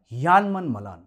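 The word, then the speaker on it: Janneman Malan: जे एन यू कि देखने में उर्दू शब्द जानेमन की तरह दिखता है मगर सही उच्चारण यान स्पंज की तरह यहां जैको वाले प्रयास करते हैं तो इनका नाम है यान मलाल न आ 2 साल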